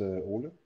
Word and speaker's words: Ole: My name is Ole, as you said, Olesen-Bagneux, my full name.